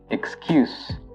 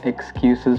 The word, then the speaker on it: excuse: So the U is pronounced longer, and the S is now pronounced as a Z.